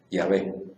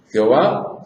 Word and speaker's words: Yahvé: Entonces, por eso es que sabemos que la pronunciación correcta es Yahvé. Esa es la pronunciación correcta. Y por eso es que los diccionarios a partir de ahí ponen Jehová, falsa pronunciación del nombre de Dios.